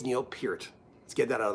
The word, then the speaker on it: Peart: we just kind of drifted away and it's pronounced pert oh it's not pronounced it's pronounced it's pronounced peered any I know people who grew up with